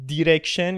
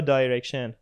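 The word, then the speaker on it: direction: بیا بیا بیا دیرکشن یا دایرکشن. خب من میگم آقا توی ویز الان زده دایرکشن اینجوریه. خب من درست دارم تلفظ می‌کنم خب دیرکشن کسی نمیگه حالا فکر کن اون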